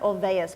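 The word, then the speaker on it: Olweus: is a guy named Dan OAS and it's pronounced Olas but it's spelled o l w and I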